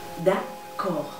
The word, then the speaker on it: d'accord: D'accord. Oh. D'accord. Tienes que hacer énfasis en la C, en la K. D'accord. Fíjate que la D al final es muda, no se pronuncia.